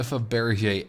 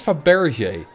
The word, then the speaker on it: Fabergé: What is Fabergé? I think it's called Fabergé because it had like a little accent on the E. That's why I'm pronouncing it like that.